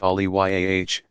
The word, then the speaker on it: Aulia: They are called friends of God, Aulia, pronounced Aliyah, singular Vali, and are generally analogous to what Christians and others mean when they refer to saints.